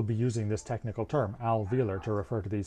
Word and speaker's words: alveolar: term to most people alveolar notice its odd spelling we don't pronounce that o but it is there in the spelling since we don't have